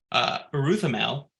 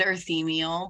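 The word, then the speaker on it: Urthemiel: Uruthamel, or D. Dumont? And Shelby is laughing at me for my pronunciation. I tried. It's Andoral and Earthemiel, but Whatever.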